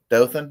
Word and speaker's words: Dothan: it but Jasper how do you say it Dothan is that how you say it okay appar